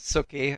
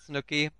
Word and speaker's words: Sookee: So basically, my name, my in-game name is Sookee and not Snooky.